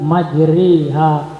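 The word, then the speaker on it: مجراها: Sehingga bunyinya, maka menjadi bismillahi majriha wa murtaha. Tapi Imam Hafiz hanya melafazkan dalam ayat ini saja imalah ini.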